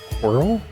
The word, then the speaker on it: Quirrel: very pleasant did I call it quirrel like squirrel but no s quirrel quirrel oh gosh actually